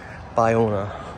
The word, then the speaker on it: Bayona: By, I think B-A-Y is pronounced by, Bayona.